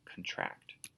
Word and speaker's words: contract: this word contract um is spelled the same way but sounds different for uh other meanings like a contract but to get smaller um is is you pronounce it contract number seven erupt something